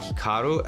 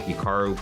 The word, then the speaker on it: Hikaru: pronounce Hikaru nak now even myself when I pronounce my name it's definitely more Americanized versus Japanese certainly if I was pronouncing it correctly it would be more like Hikaru as opposed to Hikaru but I've spent so much of my life here in America that that's just how I pronounce and everyone uh does the